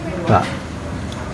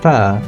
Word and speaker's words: phở: Phố đây, phố à, then phở. Due to pronunciation changes, the word pho gradually become pho. The Vietnamese-Portuguese La Dictionary by Alexandre de Rhodes, published in 1651, does not contain the word phở.